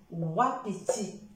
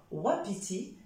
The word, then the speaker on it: wapiti: wagon et ça peut donner aussi le son ouais comme wapiti d'accord wapiti c'est un animal c'est